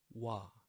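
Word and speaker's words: 와: Wa. Wa. From the word want, wa. And yes, also this is the combination of O plus A becomes wa.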